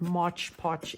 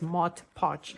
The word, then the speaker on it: Mod Podge: say to me no it's not much potch it's mod podge so i'm trying to pay attention to how i pronounce it um but i think it's just the way that i've always done it so how do you pronounce it mott patch or much podge well it is actually mod podge if you look at the spelling it is mod podge so okay so the